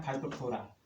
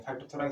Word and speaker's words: Phytophthora: तो सबसे पहले आपको पढ़ना है फाइटोथोरा, PHYTOPHTHORA है फाइटोथोरा स्पेलिंग।